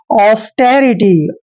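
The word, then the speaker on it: austerity: आई टी वाई देखिए ए यू का उच्चारण दोस्तों हम ओ करते हैं क्या करते हैं ओ ऐसे और एस को हम स लिखते हैं और टी का उच्चारण दोस्तों हमने क्या करना है ट और ई को ए की मात्रा पढ़ते हैं आर का उच्चारण र करेंगे आई को छोटी की मात्रा लिखेंगे और टी वाई को टी पढ़ते हैं ऐसे पढ़ना है इसको ऑस्टेरिटी ऑस्टेरिटी ऑस्टेरिटी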